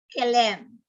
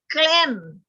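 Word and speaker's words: כֵּלִים: Ang kanyang plural ay kilem. Kilem. Hindi mo pwedeng sabihin klem. Why? Dahil ang kilem dito nasa chiray.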